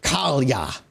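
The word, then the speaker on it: Cailleach: This next one is called the Kalya, even though it's spelt Kaleach. That's how it's spelt, in case you want to look it up. Kaleach. It's pronounced Kalya.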